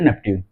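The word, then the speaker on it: Neptune: कोई नेप्च्यून बोलता था लेकिन इसका जो सही प्रोनाउंसिएशन है वो है नेप्च्यून। नेप्च्यून सॉरी ये हमारा सन।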